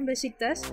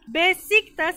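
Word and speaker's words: Beşiktaş: Ponen simplemente en Google Maps Besiktas, se escribe Besiktas porque en turco la S, hay una S rara con un palito que se pronuncia sh.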